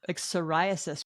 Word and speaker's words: psoriasis: like psoriasis. Why does it start with a P?